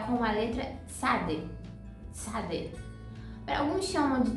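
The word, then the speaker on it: צדי: É como se fosse um fonema entre a letra T e a letra Z. T, Z ou T, S.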